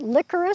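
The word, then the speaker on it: Lycoris: plant these guys are called licorice spelled with a y l y c-o-r-s magic Lily which is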